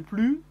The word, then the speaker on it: plus: vu il est le plus grand il parle le plus lentement possible il est le plus grand ils parlent le mieux ici on le prononce jamais le s de plus il est le plus